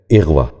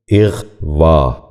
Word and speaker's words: اغوا: پہلا لفظ ہے اغوا۔ یہ غلط تلفظ ہے، درست تلفظ ہے اغوا۔ دوبارہ سنیے، اغوا۔ بچوں آپ بھی غور